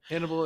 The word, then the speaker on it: Hannibal: Hannibal is rhymes with cannibal, so Do you think that he thought that people tasted like chicken?